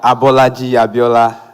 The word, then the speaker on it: Abolaji Abiola: very much abiola oh I am abolaji abiola so you can pronounce it like that yes pronounce your name